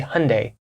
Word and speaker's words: Hyundai: we have the Korean the South Korean car company Hyundai I'm not saying it exactly the way a South Korean person would say it closest pronunciation in English would be Hyundai and I've heard people in America say Hyundai hyund Hyundai something like this trying to get trying